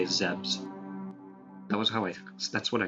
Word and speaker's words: Zebes: Planet Zebes. How do you guys pronounce it? I usually say Zebes, or if I'm feeling rather particularly ballsy, I'll say Zebs.